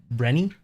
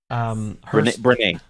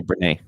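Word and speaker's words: Brené: Brenny. Dr. Breen Brown? Brene. There you go. Yeah, I would say Brene.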